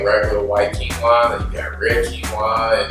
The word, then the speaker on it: quinoa: Let's talk about quinoa.